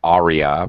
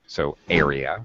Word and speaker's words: area: okay that's better yes it shouldn't sound like Arya an Arya is what an opera singer sings so Ara okay uh okay I